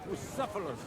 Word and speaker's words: Bucephalus: It's pronounced Bucephalus, this kind.